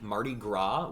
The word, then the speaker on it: Mardi Gras: in uh the 16th mardi gras without pronouncing the s at the end for sure and then uh yeah